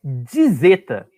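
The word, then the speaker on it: ζῆτα: Tá, então, olha só, essa aqui então é a letra, o nome da letra é dizeta. Dizeta. Isso, tem é como se fosse um D e um Z, tá?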